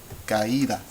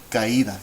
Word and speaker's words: caída: How many syllables do you hear? Caída, caída. You should hear 3 syllables. Ca, I, and da.